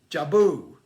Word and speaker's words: Jubel: hit another catchy record jabu i believe it's how you pronounce it with dumb fantasy playlist may 8 2022.